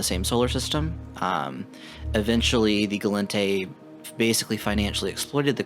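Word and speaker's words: Gallente: as i am aware they are pronounced khaldari minmatar amar and galente the kaldari and galente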